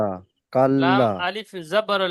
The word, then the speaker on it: كلا: কাল্লা, lime, বানান করেন আপনি। কাপ যাবার কা, লামালে যাবার লা, কাপ, কাব জবর কা হয় না, কাপ, ও তাসদিদ আছে লামের কাপ, উপরে। হ্যাঁ, কাপ লাম যাবার কাল, হুম, লামালে যাবার লা,